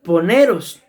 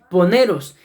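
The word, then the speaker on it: πονηρός: mis amados hermanos es una palabra griega que se dice más o menos o se escribe por lo menos así poneros poneros y ahí nos muestra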